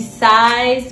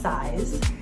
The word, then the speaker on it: CISE: the company itself so a spell c-i-s-e i think it's pronounced size um and i'm just